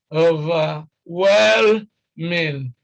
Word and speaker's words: overwhelming: The stress is on overwhelming, overwhelming.